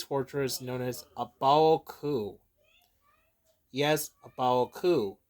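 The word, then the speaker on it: A Baoa Qu: Yes, Abaoku. Not Bao, Baoku. Yeah, I think it's pronounced right.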